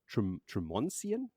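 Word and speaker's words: Tremonsien: But eventually, because they're on the run and they're trotting along, they come to a town, Tremoncian. That's how it's pronounced now.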